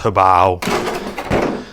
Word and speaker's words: Hobao: I know it's pronounced Hobao.